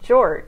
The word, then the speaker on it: Jorge: So his name was spelled Jorge, but he pronounced it George.